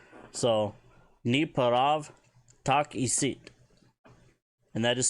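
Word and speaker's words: N'eparavu takisit: Ni paravu tak isit. Kind of wondering why they left that U off of there on the pronunciation. Maybe it's a silent one. So, Ni parav tak isit.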